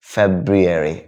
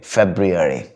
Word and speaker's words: February: February, February. പഠിച്ചില്ലേ? ഫെബ്രുവരി. എന്നാൽ ഫെബ്രുവരി എന്നുള്ളത് പ്രൊനൗൺസ് ചെയ്യാൻ 2 വഴികളുണ്ട് ബ്രിട്ടീഷ് ഇംഗ്ലീഷിൽ.